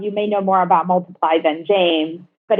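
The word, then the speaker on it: MLTPLY: So Multiply, spelled without the lettering, with a Y at the end. So it's MLP.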